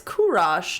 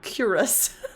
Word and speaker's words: Kurosh: pronunciation guide kuros kurosh oh it's kurosh not curious um